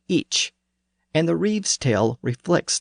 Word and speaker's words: ic: But the first-person pronoun was actually each, with a CH sound at the end. In Old English, it was usually spelled IC.